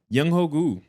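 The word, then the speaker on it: Younghoe Koo: First winner, I'm gonna go ahead and say Yung Hogu on the Atlanta Falcons. That's how you pronounce his name.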